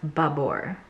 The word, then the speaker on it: Babor: look it up okay i went to the youtube page it's pronounced babor okay it's gonna be